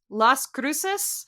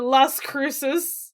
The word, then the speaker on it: Las Cruces: are not pronounced how the actual words are pronounced in their original language. Anyways, Las Cruces?